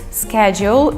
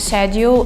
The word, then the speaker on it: schedule: people pronounce it so schedule is the american way of saying it and shed you the British one but I heard should